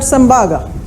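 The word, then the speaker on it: Tsembaga: T is silent, we call it Sembaga.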